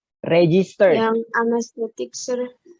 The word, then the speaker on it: anesthetic: Yang anesthetic, Sir. Anesthetic. Jadi AE-nya dibaca E. Anesthetic.